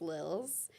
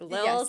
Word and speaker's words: Lilse: So it's Lilse. Lindsay Harper used to say it rhymes with thrills. That's the best way to remember it, I think. Lilse Yes. like thrills. Yes. Like has that zzz.